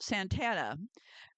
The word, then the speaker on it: Santa Ana: Some people meld the syllables together to make the word Santana.